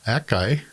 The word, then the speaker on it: Akai: And then the second part of this will be his Akai Z9100. I know it's a Kai. I'm just overcompensating for pronouncing techniques correctly.